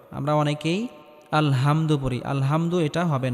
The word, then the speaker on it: الحمد: এখানে আমরা বড় হা উচ্চারণ করব। গলার মধ্যে হালকা চাপ দিয়ে উচ্চারণ করতে হবে। আমরা অনেকেই আলহামদু পড়ি, আলহামদু এটা হবে না, আলহামদু হবে।